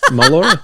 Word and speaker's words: Mollura: All right, my loves, I have John Mollura with us. I didn't say your name right. John Mollura. How do you got say it? John Mollura? Just like you said it, Mollura.